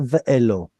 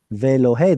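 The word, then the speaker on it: וֵאלֹהֵי: Vayomer Yaakov, comma, Elohei Avi Avraham, Ve'elohei, not Ve'elo, Ve'elohei, the Aleph quiesced, Ve'elohei Avi Yitzchak, Adonai haomer Elai, Shuv le'artzecha, u'lemoladetecha, Ve'etiva imach.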